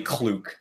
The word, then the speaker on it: Kluk: Cluck. Yeah, there you go. I swear to They God. pronounced it in this episode, and it's actually Kluk.